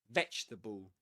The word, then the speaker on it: vegetable: Three syllables in both.